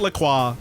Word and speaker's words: LaCroix: Yeah, his last name, it's like that water. They pronounce it LaCroix. It's LaCroix.